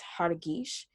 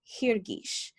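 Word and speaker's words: הרגיש: When you get rid of the lamed, we're left with hargish, but the way that we pronounce it is actually hirgish, because we're taking the two ee sounds from the hifil verb pattern.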